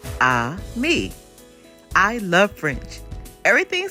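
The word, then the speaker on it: ami: say friend in French the word is Amy my mom says you say it like this ah me I love French everything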